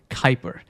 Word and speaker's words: Kuiper: Yes, it has a U in it, but still we usually pronounce it Kuiper.